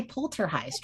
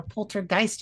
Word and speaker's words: Poltergeist: Anyway, with that fun uh little side note, let's let's play Poltergeist or Poltergeist if you want to pronounce the G, which I don't.